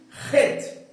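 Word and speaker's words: חית: O nome dessa consoante aqui é a consoante, vamos lá, é a consoante ret. Ret. Por que esse som de RR? Ret. Quando você observa, ela é escrito com CH.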